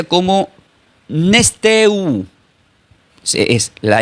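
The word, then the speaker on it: νηστεύω: La palabra, esta palabra ayuno, queridos hermanos, esta palabra ayuno del griego se pronuncia como nesteu.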